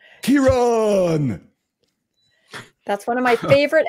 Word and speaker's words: Kearon: If you have trouble remembering how to pronounce his name, just think back to Star Trek, the original series, William Shatner, right? I am Kearon.